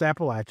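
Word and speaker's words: Appalachian: North Carolina, this this is uh that's where Appalachin State University is. Uh, and we have established on this show that it is pronounced Appalachin and if you pronounce it otherwise then you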